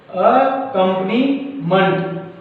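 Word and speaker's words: accompaniment: दूसरा देखिए दोस्तों, रिलेशनशिप और अकम्पनीमेंट। देखिए दोस्तों, इसका जो सही प्रोनाउंसिएशन होगा, जो सही उच्चारण होगा, वो होगा अकम्पनीमेंट। अकम्पनीमेंट।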